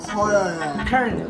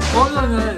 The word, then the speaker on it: colonel: Kernel. Yan ang tama.